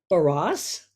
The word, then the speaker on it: Barrosse: Barrosse.